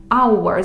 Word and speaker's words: hour: наприклад візьмемо слово година hour пишеться з H починається з літери H але транскрипція Та звимова в нас our з голосної Тому це не a hour а N hour Окей йдемо далі що